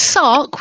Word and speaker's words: Sark: Yeah, it's Sark, which is an amalgamation of Sarah and Kevin, E for electronic, and media.